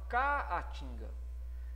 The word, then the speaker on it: caatinga: Se fala caatinga. Essa pronúncia te leva a separar a sílaba dessa maneira. Caatinga. Então tem 4 sílabas distintas nessa palavra. Ou seja, esses dois As ficaram um em cada sílaba. Isso é um hiato.